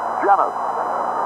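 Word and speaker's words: Llenas: L-L-E-N-A-S, pronounced Jennings.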